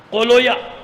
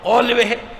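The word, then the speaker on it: قولویہ: کو بتا دیا کہ بعض اوقات لوگ اس کا تلفظ صحیح نہیں کر پاتے، بابوے کو بابویا پڑھتے ہیں، کیا پڑھتے ہیں؟ بابویا، سیبویا، قولویا، یہ نہیں ہے، بابوے، قولوے، سیبوے۔ صلوات بھیجیے محمد آل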